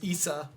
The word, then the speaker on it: Isa: His name is Isa, spelled ISA. Like Isabella.